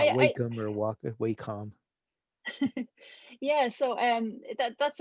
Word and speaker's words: Wacom: Sorry, Wacom. I haven't bought one in a long time. You actually pronounced it correctly.